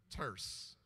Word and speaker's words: terse: very terse messages, Reverend, terse, T-E-R-S-E. Terse rhymes with a C word, curse.